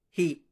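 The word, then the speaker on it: ה: one derivative term the the fifth letter is he pronounced just like an H the fun word is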